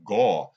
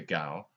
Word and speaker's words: Gao: So what I'm saying is Chloe Gao, I believe that's the pronunciation. I look at it and I think Gaw, but I never met her, but I would say Gaw, but I'm going to say Gao.